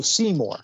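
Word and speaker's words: Smore: so people know it's it's spelled s-m o r e see more yes sorry that that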